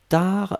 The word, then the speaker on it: tard: Upasana, attention, tar c'est T-A-R-D. Hein, donc T-A-R-D, on ne prononce pas le D.